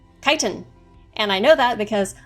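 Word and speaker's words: chitin: would be very similar to that would be kiten obligatory mini rant this word is pronounced kiten and I know that because I have a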